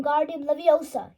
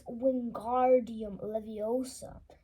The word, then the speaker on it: Wingardium Leviosa: much more luck when guardian Leviosa he shouted waving his long arms like a windmill you're saying it wrong Harry heard Hermione snap it's Wingardium Leviosa makes the guard nice and long you do it then